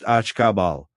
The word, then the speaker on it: Akbal: The third harmony color is black and its glyph is Akbal, pronounced akabal.